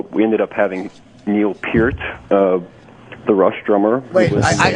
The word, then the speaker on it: Peart: Fine that what I'm saying- It isn' not peirt. No its Peurt. Its PEART.